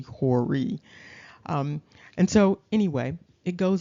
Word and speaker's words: Hori: However, when you look at what's supposed to be the phonetic pronunciation, it's Hori. And so that also adds to the confusion because it's really Hori.